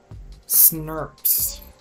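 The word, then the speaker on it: snRNP: Small nuclear ribonucleoproteins, pronounced SNRPs.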